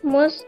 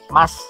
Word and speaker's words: must: Visitors, mas ya, mas. Mas Paino, Mas Paijo, Mas Paimin, ya, mas ya. Bacanya mas ya, bukan mus.